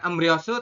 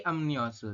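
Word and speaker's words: 염려: nyosu seperti ini robunnya jadi bukan emriosu tapi emniosu seperti itu kemudian ada lagi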